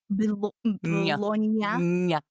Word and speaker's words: Bologna: When I can pronounce the GN sound of those two letters together in Italian, we'll be good. Bologna.